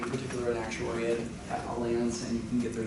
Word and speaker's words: Allianz: Okay, I think that's how you pronounce it. It's not Allianz, it's Allianz.